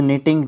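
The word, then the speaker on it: knitting: एट the moment ने बताया कि इज़ निटिंग जो है यहाँ पे आने वाला है। निटिंग मतलब बुनना। ठीक है, के बाद जब एन होता है वो लगभग जो के है ना वो साइलेंट रहता है।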